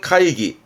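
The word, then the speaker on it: 会議: 발음은 카이기.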